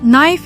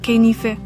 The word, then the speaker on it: knife: One big mistake many learners make is pronouncing silent letters. For example, knife is not knife and det is not dibiti.